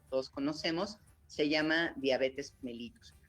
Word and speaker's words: mellitus: ahí está la diabetes se le llama diabetes mellitus este está correctamente pronunciado y así es la diabetes mellitus mellitus